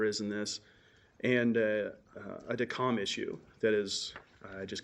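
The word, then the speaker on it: Descamps: DECOM, it's spelled DECAMPS, but it's the lovely French, so it's DECOM.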